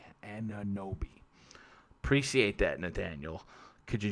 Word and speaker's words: Anunoby: Nathaniel Carby says Anunoby, pronounced Anunoby.